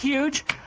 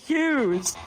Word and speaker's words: Hughes: It's pronounced Miss Hughes.